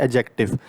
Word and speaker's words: adjective: है पस ऑफ एडजेक्टिव इसमें जो है यह डी साइलेंट होता है हम डी को प्रोनाउंस नहीं करते हम कहते हैं एडजेक्टिव डी यहां पर नहीं होता है सिर्फ डी यहां पर हम स्पेलिंग में लिखते हैं लेकिन यहां पर डी साइलेंट होता है हम इसे सिर्फ कहते हैं एडजेक्टिव सो आई होप आपको